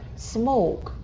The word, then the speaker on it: smoke: Smoke. Курить. Tone. Тон. Не tone. Понимаете? Не русский. Tone. Мягко. Не smoke. I don't smoke. А smoke. I don't smoke.